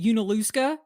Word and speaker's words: Junaluska: I've always wanted to know how to pronounce that. I've always called it Junaluska, so it's Junaluska.